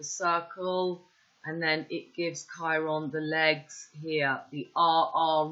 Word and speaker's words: Chiron: by charles cowai so chiron is pronounced it's here with a ch but it's k pronounced with a k and k is the